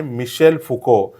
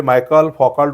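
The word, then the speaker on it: Michel Foucault: नाव आहे ते आहे मिशेल फुको हे मायकल फोकाल्ट वगैरे असं काही नाहीये त्याचा करेक्ट उच्चार होतो मिशेल फुको येस तर मिशेल फुको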